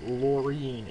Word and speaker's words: Lauren: CER Anthony and picnicker Lauren or lorine as one person in my school likes to be pronounced lorine it's spelled Lauren oh my God annoying